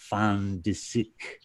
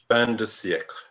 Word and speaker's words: fin de siècle: That fin de siècle. Fin de siècle.